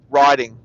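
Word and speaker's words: Rhyding: Well, it's Can you see how it's spelled? R H Y D I N G. Riding.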